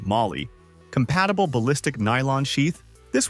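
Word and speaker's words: MOLLE: Finally, with the inclusion of its MOLA, pronunciation Molly, compatible ballistic nylon sheath, this one's easier to carry.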